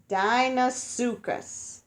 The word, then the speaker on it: Deinosuchus: would not want to be a fish okay Deinosuchus Dino su Gus Deinosuchus looked like a modern